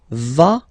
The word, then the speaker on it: va: then you get the va form. Basically you pronounce it like for the tu because you don't pronounce the final S, okay.